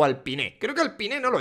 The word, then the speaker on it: Alpine: las narices al pin creo que la pronunciación correcta es al pin el año que viene